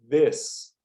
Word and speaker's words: this: E a pronúncia, esse I tem som de E. Então você vai pronunciar this. Esse TH, como eu já falei, ele é vibrado, mas é nada mais, nada menos do que um D com a língua entre os dentes.